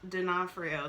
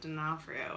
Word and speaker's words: D'Onofrio: them are like Vincent not dinofrio but Vincent D'Onofrio I think that's how you say his name anyway his like